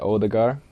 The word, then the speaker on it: Ødegaard: to prefer um to I prefer like people just say odar cuz that's like how